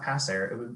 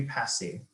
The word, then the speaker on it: passe: the situation of passe it's not pass air it will be passi um and i'm even